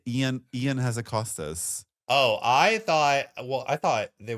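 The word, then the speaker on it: Ion: It's Ian Hazakostas. Ian.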